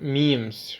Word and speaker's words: memes: their minds doin coin the term memes rhymes with gyms for ideas that are